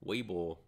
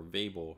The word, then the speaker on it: Weibull: Those terms are all the Weibull or Weibull, depending on how you want to pronounce it, parameters.